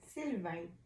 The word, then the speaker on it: Sylvain: And last but certainly not least, 1951, Syl Sylvain. Did I pronounce that correct? So. Sylvain.